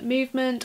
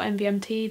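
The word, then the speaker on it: MVMT: the first pair are these ones that from movement or MV MT depends how you want to pronounce it but they're basically these black cat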